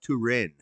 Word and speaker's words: Turin: The Shroud of Turin.